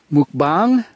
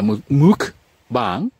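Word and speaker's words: mukbang: to do the I guess it's pronounced Mook bong bong bong yeah Mook bong I will do that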